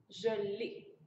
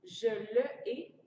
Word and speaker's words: je l'ai: Et là, écoutez bien la prononciation. Je l'ai. Si on disait oui, je le ai, drôle de prononciation. N'oubliez pas que quand il y a des voyelles qui se côtoient, souvent on va remplacer par apostrophe. Oui, je l'ai.